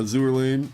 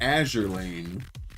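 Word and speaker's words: Azur Lane: Better make it double these going along with the NK and the uh Azour Lane. Azure Azure Lane. We figured out it is pronounced Azure Lane.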